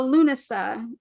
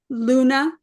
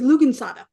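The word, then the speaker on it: Lughnasadh: Today, we're going to talk a little bit about Luna. And so I want you to see what l how Luna is spelled.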